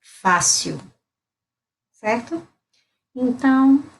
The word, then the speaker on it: fácil: fácil e seria Easy eu digo O Hélio está no final então eu pronuncio com o som de um fácil Tá certo então é